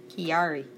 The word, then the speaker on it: Chiari: Chiari. The H is silent. I'm not gonna say just. There's 2 types of Chiari malformation.